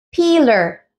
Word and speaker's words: peeler: no en este caso aquí tenemos la presencia de la doble e y significa que debemos traducirlo en el español al sonido de una I es decir pi piller piller piller piller vieron qué